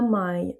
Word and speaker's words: mãe: A mãe, donc là on a le ai comme si on avait mãe qui maille.